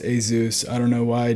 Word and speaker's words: ASUS: i did i apologize i did say ASIS I know it's pronounced a zoo I don't know why